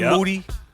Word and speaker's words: Moody: of the Year G Moody that's me the last name rhymes with dudy that's what they say